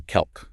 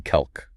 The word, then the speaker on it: calque: It's called a kelk. A kelk. That's a new word for me. How do you spell that? It's spelled c a l q u e kelk.